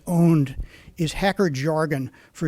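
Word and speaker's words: pwn: you can look at that funny word PW n is pronounced owned is hacker jargon for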